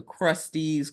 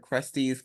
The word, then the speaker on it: Krusteaz: Just for the record, Krusty's. If you've ever seen it in the grocery store, it's spelled Krusteaz.